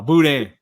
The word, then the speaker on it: boudin: And you don't pronounce the N, Dustin. Nah, Boudin. And Boudin, yeah. If it was, it'd be like Dustin.